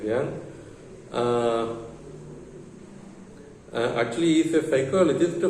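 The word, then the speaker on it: Jung: Archetypal criticism was founded by Young, J-U-N-G-N. Okay, pronunciation is Young.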